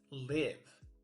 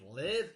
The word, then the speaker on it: live: First word is live. I live in Vietnam. Short like the word give and also you can say it like this. We watched a live concert last night. Long I like the number five.